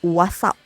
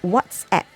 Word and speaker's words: WhatsApp: that people say is what's up which is wrong it is not what's up it is what's app okay so i hope starting from today you can correct the way you say out you pronounce that abs okay it is whatsapp not wassup okay so that is